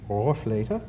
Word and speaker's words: Rohrflöte: The Rohr flute, or in its German pronunciation, Rohrflöte, is an interesting flute stop which wears not only a little hat, but has a little chimney on top.